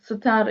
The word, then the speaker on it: Star: So Yektia Star is the union of star, which is Sitar is the Kurdish pronunciation of Ishtar, which is an ancient Mesopotamian goddess.